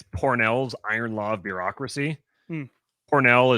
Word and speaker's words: Pournelle: Pornell is spelled Pournelle.